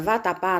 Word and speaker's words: vatapá: papéis heróis e chapéu Vamos separar as sílabas da palavra vatapá como fica separando as sílabas da palavra vatapá nós temos vá tá pa a sílaba mais forte é o a então nós temos uma oxítona terminada em a ou as por essa razão essa palavra tem que ser acentuada na palavra atrás